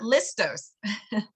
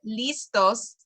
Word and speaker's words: listos: that we were practicing it's not listos so that's how we can you know work on our accent a little bit if you said listos they might understand you but listos is so much better so listos see listos